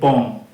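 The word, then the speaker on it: bomb: হবে না উচ্চারণটা হবে বম বিও এম বম bitter কিন্তু উচ্চারণ হবে না এইখানে বিটা কিন্তু সাইলেন্ট লেটার মনে রাখবে কয়েকটা উদাহরণ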